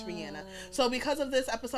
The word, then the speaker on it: Rihanna: It's not Rihanna, it's Rihanna. So because of this episode, I'm going to try and say it the proper way, sis. Okay? Rihanna, because I know she's going to see this one day.